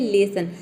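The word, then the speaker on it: lesson: यहाँ पे भी देखिए लेसन में एस के दोनों तरफ वॉवेल आया है, लेकिन यहाँ पे हम एस को ज नहीं प्रोनाउंस कर रहे, यहाँ पे एस को हम स प्रोनाउंस कर रहे हैं, ठीक है।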